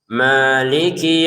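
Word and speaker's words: مَالِكِ: Maliki yaumiddin. Ma dua harakat saja jangan. Maliki kepanjangan. Malikih cukup. K-nya pendek. Jangan Maliki yaumi. Ah ini k-nya jangan sampai panjang pendek saja. Maiki yaumiddin.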